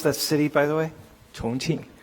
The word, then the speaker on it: Chongqing: And how you pronounce that city, by the way? Chongqing. How is it? Chongqing. Chongqing.